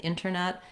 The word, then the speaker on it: internet: So if you think about, rather than inter, think about the word inner. That's going to help you have that correct pronunciation. I've put it in the IPA here as an option because you can say interview and internet, and I would say native speakers use a mix.